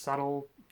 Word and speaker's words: subtle: in the idea that it's pronounced subtle, as if the whole B and D thing wasn't confusing enough. This time you use a B to sound like a D.